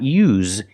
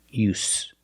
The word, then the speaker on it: use: pronunciation it's no use this is a noun use so don't pronounce the z sound it's not use it's use the true s sound with no vibration use it's no use there's